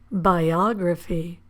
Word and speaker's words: biography: But again, we stress the syllable or we emphasize the vowel in the syllable before graphy. Geography. Biography.